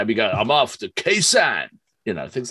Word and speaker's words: Khe Sanh: Well, it's Cold Chisel, and I never heard of them, know nothing about it, and the track is, how do you pronounce it? Khe Sanh.